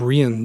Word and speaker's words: Rian: the movie debut of Rian Johnson of rien Johnson but I believe you say his name and this was just